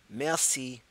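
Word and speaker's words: merci: air enough air aah messy messy is how you say thank you all right so we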